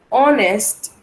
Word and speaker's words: honest: Pero en inglés también hay excepciones donde la H no suena como J. Suena o no suena, mejor dicho, también es muda. Por eso le llaman silent H o la H silenciada. Pasa lo mismo que nuestro idioma. ¿Cómo así, teacher? Sí, hay excepciones. Por ejemplo, tenemos honest, honorable, our.